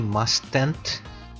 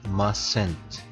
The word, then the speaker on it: mustn't: mustn't drink and drive take note that i am not pronouncing the first t but emphasizing the last t don't say must tent but it's just masent so now that you've